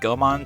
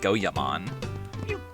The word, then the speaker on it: Goemon: I upgraded Goemon to Goemon, and this was because of the Lupin the Third dub. I upgraded Sasuke to Sasuke, which is still not correct. I don't think I ever fixed the other ones. Yeah, the Lupin the Third dub for, like, the Red Jacket series, Lupin pronounces it Goemon, which is like, that's fine, I guess. It's closer.